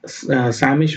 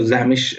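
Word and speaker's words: Sämisch: D6 खेला F3, ये सैमिश variation है या आप बोल सकते हो ज़ैमिश भी प्रोनाउंस करते हैं उसको, वो वेरिएशन है।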